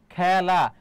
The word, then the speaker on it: খেলা: উচ্চারণটা ব্যা হয়ে যাচ্ছে খেলা খ এর উচ্চারণটা কি হয়ে যাচ্ছে বলতো খ্যা তাহলে মনে রাখবা এ